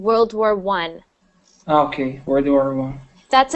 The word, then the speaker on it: World War I: first world war but when it's spelled like that with the uh Roman numeral so so that little one there there it's actually pronounced well it's actually said World War I and sometimes you'll see it with two of them and that will be World War II okay next one Huggy